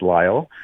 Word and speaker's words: Lyle: Uh he started by asking me how I pronounce my name and I told him it's Lyall.